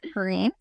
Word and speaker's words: Perrine: And Mike Green. Is that how you pronounce it?